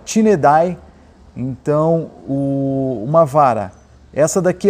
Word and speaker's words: Tineidae: Uma vara da Rapala, pronúncia dela Tinedai.